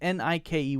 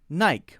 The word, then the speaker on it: Nike: the long sound and I can't eat Mike so that means ni ke would be naik right no no it's pronounced Nike Nike that is the pronunciation doesn't matter why not important why that's how it said Nike Nike Nike next